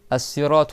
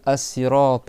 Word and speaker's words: الصراط: فلغة في أصل اللغة الصراط هو بالسين ويجوز أن تنطق بها بالصاد لأجل المناسبة مع تفخيم الراء والطاء. لذلك والقرآن نزل باللغتين فيجوز تقول الصراط بالسين أو الصراط بالصاد لكن هنا الصاد أصلها السين ليس خطأ يعني.